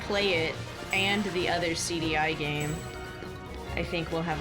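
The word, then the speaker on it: CD-i: that makes that game is called CDI. Like it's spelled CD with like SEEDY and then like a hyphen and then EYE. It's called CDI.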